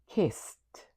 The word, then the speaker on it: kissed: The last sound you hear in the word kiss is s. So in its past, the e d is going to sound like t. So it would look like this. Kissed.